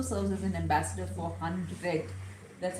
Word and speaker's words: HundrED: Priyank also serves as an ambassador for Hundred that's how you pronounce it and sits on advisory boards for